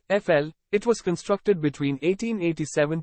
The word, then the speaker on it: Eiffel: of France you should know La Tour Eiffel pronounced FL it was constructed between 1887 to 1889 under